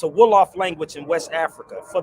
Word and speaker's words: Wolof: So when you understand what the word hip come from, or hip hop come from, it's a Wolof language in West Africa, for the record.